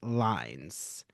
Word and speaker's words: Lynes: Well, thank you, Laurence, because his article is a pun, Learning One's Lines.